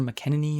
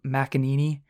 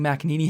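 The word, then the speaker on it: McEnany: i don't know why i don't know if i called her mckenney or whatnot but i do believe it's macaneney yeah kylie macaney is what we're gonna go with anyway she did come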